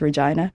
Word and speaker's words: Regina: a bit of a risque name but it's pronounced Regina it's a population 200 000.